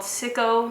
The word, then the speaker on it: Syco: They went ahead and signed a joint contract with a group called Syco, I think it's called pronounced Syco, S-Y-C-O Music, which at the time was owned by Simon Cowell, and Epic Records, which was Ellie Reed's record label.